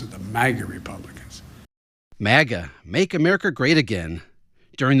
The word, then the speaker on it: MAGA: grew to historic levels under the republicans the mega republicans the mag have republished you don't want to mispronounce it the mega republicans maga make america great again during those remarks president